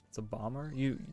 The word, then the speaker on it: bomber: How do you say that? A bomber. It's a bomber. The second B is silent, right?